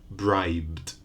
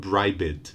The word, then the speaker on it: bribed: voiced in the past bribed we had one syllable bribe in the past still one syllable bribed no extra vowel no extra syllable not bright but bribed jug final sound it's